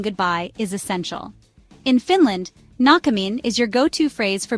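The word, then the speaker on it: näkemiin: Nakamin is pronounced na-kemin with the emphasis on the first syllable.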